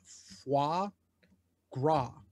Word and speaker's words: foie gras: Foie gras. Yeah. That's how you pronounce it.